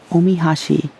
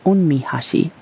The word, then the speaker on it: omihashi: An example of this are special chopsticks called omihashi, or sometimes pronounced onmihashi, written with the honorific o, like ohashi.